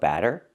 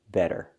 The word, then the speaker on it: better: Let's look at the difference. Batter with the open A sound like black cat, batter, pancake batter, and better, better with the short S sound like bed and red, better.